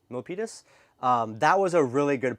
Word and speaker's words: Milpitas: I think it's pronounced Milpitas. Milpitas?